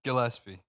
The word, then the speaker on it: Gillespie: G it's Gilespie it's Gillespie well I think for some reason humans are just uh FES matter with you dude it's not a j bro it could be nope